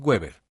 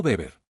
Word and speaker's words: Weber: Cuando dijeron mi nombre, el maestro de ceremonias lo pronunció mal. Weber. No, beber. Weer era un detalle pequeño, claro, pero dolió como un corte de papel sobre una quemadura de sol.